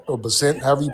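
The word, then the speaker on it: Bessent: And Scott uh Bessett or Basset, however you pronounce his name.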